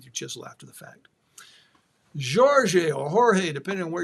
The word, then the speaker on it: Jorge: Jorge is the Portuguese pronunciation, by the way.